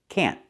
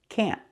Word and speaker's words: can't: Can't. Not can, but can't. Listen to the difference. I can go. No, it's I can't go. We use a stop T. Put the tongue up and stop the air.